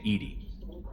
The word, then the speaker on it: EDI: airlock is a jar why are you named Edie Ed is the phonetic pronunciation of e d that is an acronym